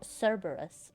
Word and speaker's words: Cerberus: Where is Cerberus?